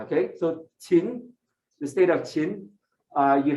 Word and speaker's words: Qin: ascends the throne of the Qin kingdom, Qin, all right, not Qing, all right, it's Qin, okay, all right, just in case you're wondering how it's pronounced, Q in Hanyu pinyin